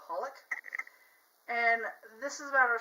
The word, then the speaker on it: xxxHolic: It's like 3 X's, but you don't pronounce them, but it's called Holic.